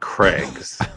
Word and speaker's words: Craig's: And by the way, you have to pronounce it Craig's, not Craig's. It's too. You're giving it too much weight.